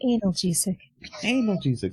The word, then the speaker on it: analgesic: to counteract poison okay oh no it is pronounced analgesic sorry okay guys you let me know when